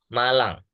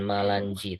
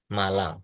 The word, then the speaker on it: Malang: Nah, ini dibacanya Malang. Ya, bukan Malanji, tapi dibacanya Malang.